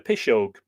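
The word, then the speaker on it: piseog: We call it a Pishog. Even among English-speaking people, in the modern form, Pishog, spelt P-I-S-E-O for the G, pronounced P-I-S-H-O-G-E, and familiarly applied to witchcraft or spells.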